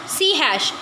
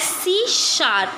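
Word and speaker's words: C#: Then हमारा है सी हैश, इट is pronounce as सी शार्प, इसको सी शार्प करके प्रोनाउंस किया जाता है।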